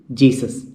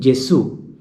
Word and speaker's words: Gesù: Jesu, Jesus. Please note the pronunciation Jesu. There is an accent mark on U. So that U is got accented. So we have to pronounce Jesu.